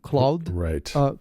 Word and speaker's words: Clawd: So it's pronounced like Claude, but it's actually a C-L-A-W-D, Claude, like claws.